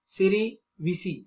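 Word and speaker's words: cerevisiae: Then saccharomyces सेरेविसी, इसका सेरेविसी ऐसा ही pronunciation है।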